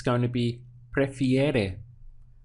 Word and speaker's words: prefiere: To express he, she, or it prefers, it's going to be prefiere. We have now ere at the end. So we have pre, fi, ere. 3 sounds.